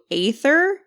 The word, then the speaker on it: Aether: red liquid spill as a sly nod to Aether being reality.